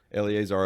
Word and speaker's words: Eleazar: Eleazar up to the mount and basically takes the